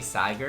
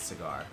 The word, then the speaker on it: Sagar: It might not be, but it's definitely Sagar and not Cigar, which is what a lot of people You call see, it.